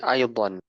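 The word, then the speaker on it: أيضًا: Nah, jadi aydan. Nah, tulisannya seperti ini aydan. Uh, aydan. Ya, aydan. Jadi pakai hamzah, kemudian ya sukun, kemudian dad dan alif ya. Tanda bacanya pakai fathah tanwin aydan.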